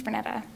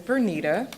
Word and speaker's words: Bernita: And not to put you on the spot, but it's Bernita, which is what everyone says. Everyone always says Bernetta the first time. I blame my mom. Phonetically, it doesn't make sense.